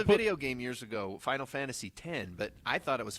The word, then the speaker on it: Final Fantasy X: what there was a video game years ago Final Fantasy 10 but I thought it was Final Fantasy X till I was loudly corrected by all the